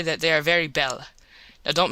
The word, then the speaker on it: belle: that they are very belle. Now don't mispronounce things and get sore till you know. You pronounce that like bell and push button.